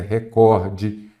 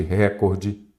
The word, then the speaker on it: recorde: acento recorde a forma a pronúncia correta é recorde nada de recorde também não tem e